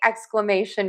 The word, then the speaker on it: exclamation: So to say exclamation mark, we have lots of syllables. Exclamation. Because we have the shun. We got to stress right before the shun.